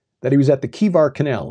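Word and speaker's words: Chebar: But he mentions during that description that he was at the Kivar Canal. It's spelled C-H-E-B-A-R, but it's Kivar Canal.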